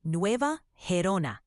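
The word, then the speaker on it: Nueva Gerona: a hurricane coming for portions of Cuba near NOA garona how do you say that like like the locals that would be NOA Herona sounds like folks there need to brace for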